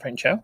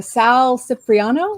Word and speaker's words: Sal Cipriano: to say his name is it not friend show no it's uh Sal Cipriano oh the cover artist